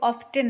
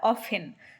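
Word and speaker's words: often: একসঙ্গে থাকি ইউ অফেন এটা কিন্তু অফটেন না অনেকেই তোমরা অফটেন উচ্চারণ করো এটা একটা সাইলেন্ট হয় মানে টি টা সাইলেন্ট হয় তাই এটা অফেন অফেন মানে হচ্ছে প্রায়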